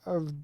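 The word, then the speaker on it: を: remember or recall but usually wo is actually just pronounced o because it's a particle which I explain later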